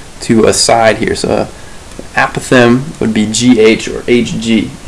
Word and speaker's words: apothem: It's apothem. So the apothem would be G from this point here, the midpoint, and it's the point that's perpendicular to a side here. So apothem would be GH or HG in this case.